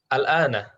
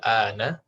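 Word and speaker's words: الآن: Yang setelah jamiati itu bacanya gimana? Al-ana, al-ana. Al-ana. Man fi masjidil jami'atil ana.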